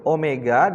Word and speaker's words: omega: Ini bacanya omega ya, nak, jangan bingung ya.